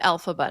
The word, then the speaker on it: Elphaba: And I know that you pronounce it Elphaba now.